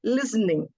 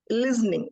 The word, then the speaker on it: listening: pronunciation listening actually the the consonant s and t when it comes in the middle we pronounce the stress it on T we half pronounce s it is not list somewhere like it was a little differently pronounced I'm unable to pronounce the way it was pronounced but it is listening listening it's the T becomes a little silent and listening it becomes